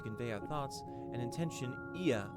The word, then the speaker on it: Ea: our thoughts and intention, Ia, I believe, was the pronunciation used when referring to our people. Ea, though it is not entirely applicable given our present state, you are welcome to use this appellation.